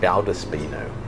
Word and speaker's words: Valdespino: Today we're looking at one by a producer called Valdespino. In Spain they often say V's as B's, so you may hear it pronounced Valdespino.